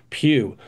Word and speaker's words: Pou: with a gentleman named Robin Pew um although it's spelled Pou it's Robin Pew and he wrote this